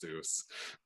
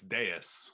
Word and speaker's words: Deus: It's not called Post Deuce. I hope people, I've heard like more than one person pronounce it that way. I'm just like, fuck. Is it really Deus? It's Deus, which Deus. Is Latin for God.